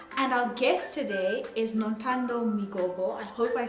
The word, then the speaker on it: Nothando Migogo: My name is Taynita and our guest today is Nothando Migogo. I hope I said it right. Yeah, Nothando Migogo.